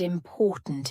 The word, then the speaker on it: important: to use the word important in your response in the middle we have the syllable import and at the end we have a stopped